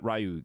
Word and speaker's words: Ryu: Ryu, Ken, or Ryu as it should be pronounced, but Ryu to me, Ken, Blanca, Yonda, Dalsim, and Bison, and so on.